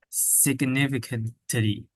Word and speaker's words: significantly: You got to pronounce the G. Significantly. significantly, Perfect.